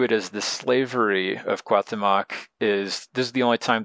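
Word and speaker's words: Cuauhtémoc: Now, Cuahtemoc is spelled different ways. In this case, it's more like Cuahtemotzin, and that could be different ways of saying the name when you refer to him as different, either as a person or as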